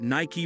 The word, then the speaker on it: Nike: it's become official that Ni-key rhymes with spiky.